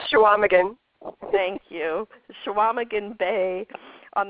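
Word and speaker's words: Chequamegon: you're gonna have to tell us how to pronounce that Claire yours what is it it's called shaaman thank you shaaman bay on the shores of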